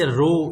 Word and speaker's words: rho: P symbol यानी कि रो, इसका जो प्रोनाउंसिएशन है वो रो है, ये जो P है इटैलिक साइन में ये वाला, इसको हम रो कहते हैं, रो साइन RHO।